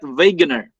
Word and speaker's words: Wegener: he's a german okay therefore if it is a w we pronounce it as letter v okay so the w